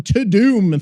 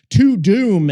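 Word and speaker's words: Tudum: It's some to-doom thing. It's more like a to-do, but to-doom is T-U-D-U-M is how it's spelled.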